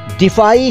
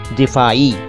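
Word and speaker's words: दिफ़ाई: यानी कि हिफाजती, और इसका उच्चारण है दिफाई, बिल्कुल साफ साफ, दिफाई, दिफाई, ठीक है। इसमें वो ई नहीं है, ई अरबी वाला नहीं है, सिंपल दिफाई।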